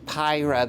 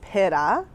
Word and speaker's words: Pyra: We've been saying Pyra, the Polish potato, but that's not correct. So the right way is Pyra, but of course we don't expect everyone to know that.